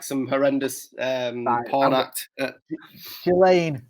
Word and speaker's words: Ghislaine: Ghislaine? Is it Ghislaine? Sounds very wrong. That sounds like some horrendous porn act. Ghislaine. I think the S is silent. Ghislaine Maxwell.